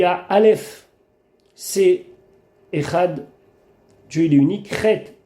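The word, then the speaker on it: אחד: Et on doit dire assez longuement le dalet du echad.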